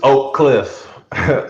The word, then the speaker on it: Oak Cliff: correct pronunciation it's oak cliff um it's two syllables but i mean if